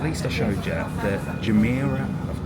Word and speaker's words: Jumeirah: But we got off, and at least I showed you the Jumeirah, I've pronounced it right now, Jumeirah Beach Residence.